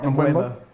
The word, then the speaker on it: Mbeumo: Have I pronounced that right? Mbeumo.